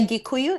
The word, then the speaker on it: Gikuyu: We are Gikuyu. It's spelled Gikuyu, but then sometimes it's Gikuyu. spelled with a K.